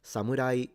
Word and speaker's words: samurai: It's like an in between an L and an R.